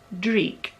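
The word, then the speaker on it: dreich: is in the colorway i didn't pronounce that right at all it is dreek which is a scottish term for a grotty weather day basically and uh yeah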